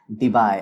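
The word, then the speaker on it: Debye: तो ये देखिए, Q is charge, R इज the distance of separation, unit of dipole moment is डिबाई। क्या, डिबाई, अच्छे से प्रोनाउंस करना।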